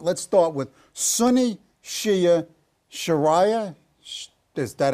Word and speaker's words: Sharia: you're talking about let's start with Sunni Shia sharah is that how you pronounce it Sharia Sharia caliphate Jihad and salafism so we got